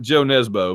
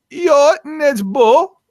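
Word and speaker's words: Jo Nesbø: way you're supposed to it looks like jo nesbo but it's yacht and edge bull something like that right this is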